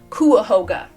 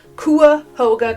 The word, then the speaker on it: Cuyahoga: So I was very close. It's not Cuyahoga, it's Cuyahoga. So, apologies for the mispronunciation. Cuyahoga County.